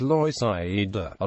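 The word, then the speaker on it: Loisaida: are still known as Lo a Latino pronunciation of Lower East Side Side Avenue C is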